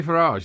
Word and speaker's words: Farage: Russian prostitutes tanned see when you say farage though it's actually it should rhyme with garage so it should be Nigel farage not Nigel farage unless you have a garage so do you have